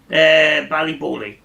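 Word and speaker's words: Ballyboley: in Ireland, Sam, or Ballybolly? No, it's on the bucket list. I don't think it's very far from here. But how do you pronounce it? Is it Ballybowley or Ballybolly? Ballybowley. Right.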